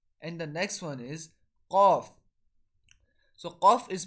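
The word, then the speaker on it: قاف: So Qaf is pronounced when the end of our tongue, which is close to our throat, touches the end of our backside of our palate. So Qaf will be pronounced.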